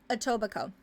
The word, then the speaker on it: Etobicoke: It's pronounced Etobicoke.